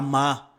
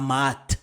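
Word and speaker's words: Maât: Cependant, le T à la fin d'un mot ne se prononce pas. Quand le T est à la fin du mot, il devient muet. Donc on dira par exemple la Ma et non pas la Maat.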